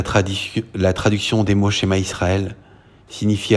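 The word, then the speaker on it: שְׁמַע יִשְׂרָאֵל: la première fois ici il se prononce chez ma Israël a donna elohemo adona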